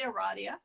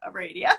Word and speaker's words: Aradia: We are, I say Aradia. Aradia, okay. See, I told you I can't say anything. Some people say Aradia. Okay. But because I'm the East Coaster, Aradia. Aradia.